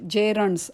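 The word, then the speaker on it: gerund: आर यु एन डी जरी त्याचं सुरुवात जी ने असेल या स्पेलिंगची जेरणची तरी त्याचा उच्चार जे पासून म्हणजे जेरण्स असाच करतात जेर्स जेर्स म्हणजे धातू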